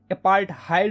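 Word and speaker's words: अपार्थाइड: System जो थी ना अपार्थड बोलो या फिर अपार्टहाइड बोलो यार। कुछ लोग इसको अपार्थड बोलते हैं या कुछ लोग इसको अपार्टाइड बोलते हैं। ठीक है? तो जो भी तुम्हें प्रोनाउंसिएशन सही लगता है यार वो बोलो तुम। ठीक है? मैं अपार्थिड बोलूंगा।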